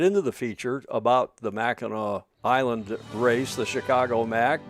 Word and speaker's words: Mackinac: U Clark, why is it pronounced uh by Michiganers anyway properly as Meno whereas um non-Maganders tend to pronounce it Machin like it's spelled?